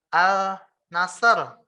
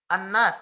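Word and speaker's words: الناس: Contoh, tadi misalnya al nasr, al nasr ya. Kita bacanya an nasr. Contoh lagi misalnya tadinya an-nas, al-nas. Tapi kita bacanya an-nas.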